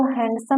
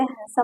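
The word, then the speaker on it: handsome: कहते सैंडविच कहते हैं इसको हैंडसम नहीं कहते हैंडसम कहते हैं इसको वेडनेसडे नहीं कहते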